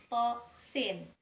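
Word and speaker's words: طس: Nah, contoh terakhir yaitu pada kata tosin. To-nya kita baca 2 harokat dan sin-nya kita baca 6 harokat.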